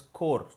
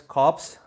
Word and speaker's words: corps: Dental core c RPS is pronounced as core please don't say as cops and don't say ADC